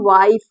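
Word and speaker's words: wife: के नियम अब देखिए डब्लू आई एफ ई इसको पढ़ेंगे वाइफ ठीक है वाइफ तो यहां पर य भले साइलेंट है लेकिन इसका उच्चारण इसका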